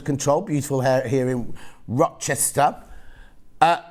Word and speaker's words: Rochester: beautiful hair here in rochester uh hang on pronounce like rowing your boat ancestor rose ester uh are you still